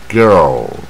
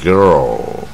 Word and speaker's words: girl: 念不准，它是音最往下啊 girl，就是下巴跟舌头往最下 girl 啊，而不